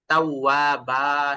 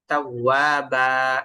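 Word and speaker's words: تَوَّابًا: তাবা মাশাল্লাহ মাশাল্লাহ জ মোটা হরফের দিকে আরেকটু লক্ষ্য করে উচ্চারণ করতে হবে যেখানে মোটা হরফ আসে যেমনফির এখানে তাগে বললে হবে না তাফির গোল করে তারপর তাবা শেষের দিকে টান থাকে এগুলো খেয়াল করে পড়বেন তাবা এভাবে আলহামদুলিল্লাহ শুকরিয়া তারপর মাশাল্লাহ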